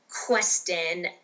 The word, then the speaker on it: Questen: Questen, like strengthen.